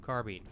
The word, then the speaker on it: carbine: See, is it carbine or carbine? I've always thought it was carbine, personally, but I've heard carbine from a lot of gun people, and that throws me off. I don't actually think there is a correct pronunciation. I think you can actually pronounce it either way.